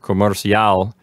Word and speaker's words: comercial: Yes, you're supposed to accent the last syllable. In this case, the last four letters, which are C-I-A-L. So every time you have two vowels together in one syllable, what that means is that one is going to be weak and the other one is going to be strong. In this case, the strong vowel is the A.